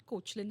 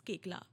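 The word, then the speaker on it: Koechlin: अप and said that it's नॉट कोचलन इट्स केकला या I know I know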